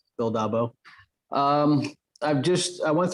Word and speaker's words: Dolbow: uh you did say my name right bill dabo um i've just i went through aviator last